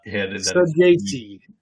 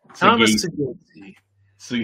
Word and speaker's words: Saggese: Saggese. Thomas Saggese. But we've got a nickname for Saggese. Now moving forward, it's Goose. Yeah, go get Goose. Go Goose. Go get Goose. So Thomas Goose Saggese was in our player highlights last year.